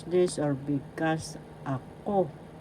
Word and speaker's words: ako: The second syllable has the accent. So you pronounce this or because ako ako that is I or me that means possessive case.